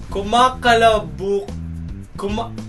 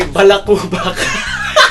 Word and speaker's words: kumakalabukab: Number 3, kumakalabukab. You're about to say balakubak.